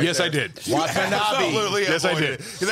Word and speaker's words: Watanabe: Wanatobi. No. Watanabe. Watanabe. Fuck's sake. Oh my god. Watanabe. Not Wanatobi.